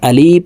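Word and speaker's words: ألف: করে শিখে নিন আলিফ আলিফ হরফকে টেনে উচ্চারণ করা যাবে না আলিফ এভাবে টেনে পড়া যাবে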